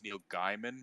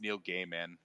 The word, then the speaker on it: Neil Gaiman: when I was younger I thought it was Neil Gaiman but no it's it's Neil Gaiman that is his name or like or like